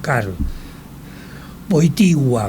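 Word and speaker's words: Karol Wojtyła: Y en la ray cuando anuncian Carol y después, bueno, Carol Voitigua, muy bien pronunciado en polaco dicen, me preguntaban o nos preguntaban, pero será será de África.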